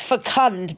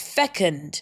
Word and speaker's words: fecund: Oh, maybe it's fecund, but no, it's fecund.